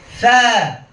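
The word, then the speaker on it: ث: আমার শক্তি দিয়ে বলবো না, আলতো করে, দুর্বল করে লাগিয়ে, আলতো করে আমরা লাগিয়ে বলার চেষ্টা করব। কিভাবে? আবার বলছি, সা সা সা। অনেকে সা বলার সময় নিচের দাঁতে সাপোর্ট নেন, সা সা, এটা ভুল, ফাঁকা থাকবে।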